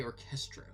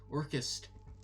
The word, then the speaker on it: Orchestereo: I always say it wrong. I say orchestro, but it's orchestereo. I'm pretty sure. Yeah, it's orchestereo.